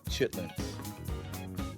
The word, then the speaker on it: chitlins: Chitlins. Chitlins. The southern pronunciation of chitterlings, meaning the small intestines of a pig, occupy a complicated space in American food culture.